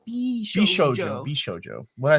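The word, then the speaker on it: 美少女: FYI, it's pronounced Bishoujo.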